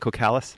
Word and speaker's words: Cocalis: Is that how you say it, Cocalis?